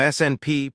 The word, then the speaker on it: SNP: A SNP, pronounced SNP, is simply a place where one letter in the DNA sequence has been swapped for another.